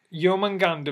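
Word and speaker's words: Jörmungandr: a producing make God serpent it's so it's pronounced yeoman ganda meaning huge monster huge monster also known as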